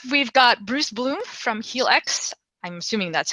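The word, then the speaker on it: Healx: um next up we've got bruce bloom from heal x i'm assuming that's how we pronounce the name of the company but bruce welcome thanks yes helix uh originally the the word is sort of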